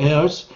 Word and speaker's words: heirs: 또 and their heirs. heir라고 발음합니다. H가 묵음이죠.